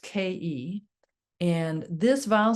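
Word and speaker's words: KHEI: healing, we can in tone the vowel sound ke. It's spelled k h ei and it's pronounced ke.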